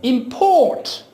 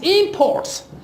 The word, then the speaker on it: import: M and other sport so if you want to use this word is a verb you will be you will be giving the stress to the second syllable and then it will be import and if you want to give stress to the if you want to use this word as a noun you give stress your first syllable there it becomes imports you know the evils